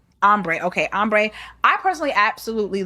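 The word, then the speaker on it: Ambré: Ambre or Ombre? Ombre.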